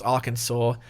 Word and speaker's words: Arkansas: Kansas I'm just kidding I know how it's pronounced for some reason it's Arkansas but I mean it's an S at the